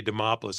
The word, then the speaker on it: Demopoulos: introduction anybody can say Demopolis I'm impressed cuz it rhymes with Acropolis and as far as